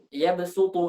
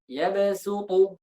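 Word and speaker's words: يبسط: Jadi karena sering mereka ucapkan bahasa ta, jadinya ikut ketebalan sinnya, jadinya basata. Makanya kan sin dengan shad itu kan makhrajnya satu. Jadi kalau kita berikan sifat tebal ke sin itu jadinya shad.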